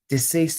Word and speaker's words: deceased: and deceased is twofold deceased as deceased deceased rather than diseased so it's d e rather than d i the other thing is